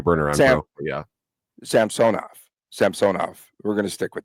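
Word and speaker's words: Samsonov: to turn your bur on yeah Sam sonov Sam sonov we're going to stick with that pronunciation like the king them um they're talking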